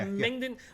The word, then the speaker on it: Mengden: I am also going to back Mengden. Am I pronouncing that right? Is I think Mengden? so. Yeah. Mengden.